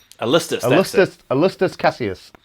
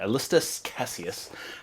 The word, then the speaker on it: Alanis Sallustis: Alist Casius. That's it. Alist Casius.